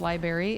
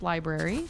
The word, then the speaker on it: library: it is not pronounced Library it is pronounced Library cuz there's an r in there it just caught me